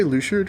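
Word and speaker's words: Luxord: i struggled with um lux zord how do you i call it i say luchad because that's how they say it in cage three sure okay let's say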